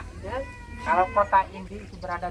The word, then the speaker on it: Ende: Nah, jadi nanti kalau nama kampung kami di sini di Sasak Ende, bacanya Ende.